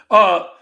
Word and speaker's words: Mintyukov: Mintukov. I don't know how to pronounce his name. Yeah, Mintukov. Yeah, Mintyukov.